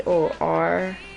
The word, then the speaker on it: torpor: you spell that t t-o-r-p-o-r and a state of physical or mental inactivity lethargy and how they pronounced it okay see i was saying it completely wrong torpor okay director may i